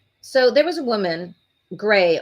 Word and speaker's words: Grei: So there was a woman, Gray, only it's spelled Grei, Mendez, in the Bronx, who just started a daycare this year.